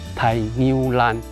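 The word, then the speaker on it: 大牛欄: 大牛栏的客语怎么念啊？台牛栏。台牛栏。对，是客家话的一个讲法。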